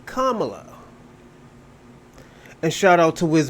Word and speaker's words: Kamala: We'll say her name right, Kamala.